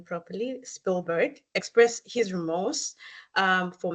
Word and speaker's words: Spielberg: spill um let me say his name properly Spielberg expressed his remorse um for making Jaws in